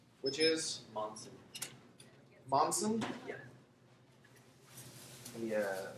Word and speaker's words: Monson: Which is Monson. Monson. Yeah. Can you spell that for me?